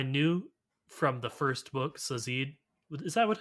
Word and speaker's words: Sazed: All Gotta right, say, I knew from the first book, Sazid. Is that what how you would pronounce say his Zed. name? Sazed.